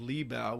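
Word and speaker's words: Libau: 1931 in a place called libel which was the German pronunciation of libava which is a town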